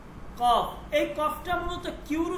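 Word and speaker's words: قاف: একটু খেয়াল করবেন ফারসিতে এই কফটা মূলত কিউর উচ্চারণ হয় কিউ কিউ এই ফারসিতে যে কফ এটা মূলত কিউর উচ্চারণ হবে কিউ ঠিক আছে কিউ নট কে কে এর উচ্চারণ হবে না কিউর উচ্চারণ হবে।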